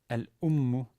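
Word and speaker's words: الأمُّ: Al-ummu, the first word, why is the stress not on al? Because u is a short vowel. Well, for two reasons. First, the definite article and other things that are added to a word in the front of it cannot have the stress.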